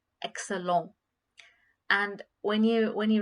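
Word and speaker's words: excellente: t is not grayed out which means it's pronounced as excellent a little bit you feel the the sound of t at the end which is t excellent but when it comes to when you say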